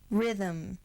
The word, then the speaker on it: rhythm: The consonants RH just say R, as in rhapsody, rhetoric, rhythm, rhyme. The consonants MB together say only M.